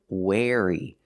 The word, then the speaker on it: wary: Wary pronunciation wary using the air sound like chair and hair.